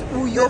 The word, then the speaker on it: Uyo: Say because I didn't pronounce it well. It's Uyo.